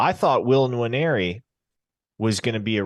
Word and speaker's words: Nwaneri: It's Nwaneri. It's Nwaneri, yep. Yeah, you can't neglect the first N.